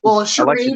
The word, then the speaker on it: Sherry: Hey, Cherry. Yeah, Sherry, but I always want to say Cherry. It looks like cherry.